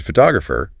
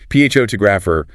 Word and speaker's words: photographer: But if I change the word photographer, the stress moves. Photographer. If you say ph to grapher, a native speaker might genuinely not understand you for a second